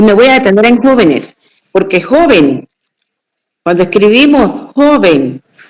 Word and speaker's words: jóvenes: Claro, sabiendo que la antepenúltima sílaba es nuestra la mayor fuerza de voz, como en el caso de música, médico, pájaro, jóvenes. Y me voy a detener en jóvenes porque jóvenes, cuando escribimos